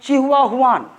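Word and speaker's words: Chihuahuan: है, इसका नाम है चिहुआहुआन। इस डेजर्ट का नाम क्या है? चिहुआ, क्या हुआ? हुआन हुआ, चिहुआहुआन डेजर्ट।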